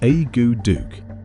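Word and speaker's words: akutaq: of breathtaking glaciers and autac pronounced a Duke this dish translates to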